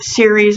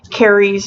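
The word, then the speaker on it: Ceres: I've heard it pronounced series I've heard it pronounced carries I've pronounced different ways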